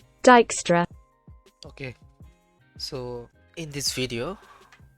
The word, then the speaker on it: Dijkstra: that let's check out but it's actually pronounced dijkstra okay so in this